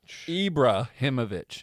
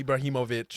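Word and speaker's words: Ibrahimović: Ibrahimovic is what I said. Ibrahimovic. I am Ibrahimovic. That part they got right. Especially the him part.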